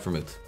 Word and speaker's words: vermouth: Vermouth's good, I like vermouth.